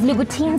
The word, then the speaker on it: Louboutin: Louboutin. Yeah, well, it's French. Even I say it wrong. I know, but you've got to say it like Christian with Louboutin. Swagger.